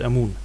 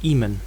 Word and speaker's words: Amun: pronunciation should usually be Imen. But Egyptologists tend to use the name Amun as it is attested in Coptic.